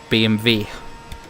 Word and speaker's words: BMW: usually just pronounce this BMW on stream but like obviously in German you would pronounce as BMV BM I don't